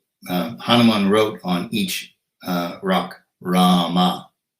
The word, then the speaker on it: Rama: Hanuman wrote on each rock, Rama, 2 syllables.